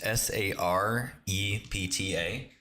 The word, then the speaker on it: Sarepta: It's Sarepta.